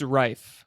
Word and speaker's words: Riffe: It's Riffe. It's Riffe. like rifle, but without the gun part.